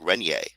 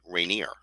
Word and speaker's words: Rainier: to an american um i once outed myself in america by mistake by um pronouncing mount rainier mount rainier ier to a canadian is uh would sound like renier not rainier um so be aware